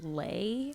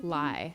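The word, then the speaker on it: lye: that soap comes from a a substance called lay I li lie I'm like how do people soap is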